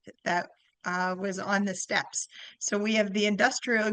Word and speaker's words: Steppe: It's it's not steep consulting, it's step consulting.